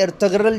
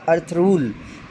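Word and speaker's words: Ertuğrul: आपने सुना होगा ना, तो इसी तरह अर्थगरल जो है वो भी गलत पढ़ा जाता है, उसका जो है वो ओरिजिनल प्रोनाउंसिएशन जो है वो टर्किश में क्या होगा, अर्थरूल, अलिफ रे थे रे वाव लाम अर्थ रूल, ठीक है जी, याद रखिएगा।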